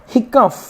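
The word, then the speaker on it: hiccough: हो जाएगा एनफ पर्याप्त हिकफ ये क्या हो जाएगा हिकफ हिकफ जिसका मतलब हिचकी होती है क्या होती है हिचकी वैसे तो आपको पता होगा हि कप की spelling H I double C यू प होती है लेकिन ये भी होती है तो अगर आपको नहीं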